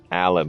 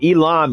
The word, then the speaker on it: Elon: His name is Elon Musk, not Alan Musk. Sorry. Okay, Elon Musk.